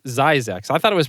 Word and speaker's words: Zzyzx: sign that was zzyzx road and it's actually pronounced zyzex i thought it was pronounced zizzix but it's actually pronounced as isaac so it's